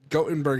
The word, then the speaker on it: Gothenburg: side note this is gottenberg is how you pronounce it in Europe um and this is